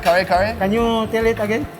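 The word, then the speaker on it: kare-kare: Kare kare? Can you tell it again? Kare kare.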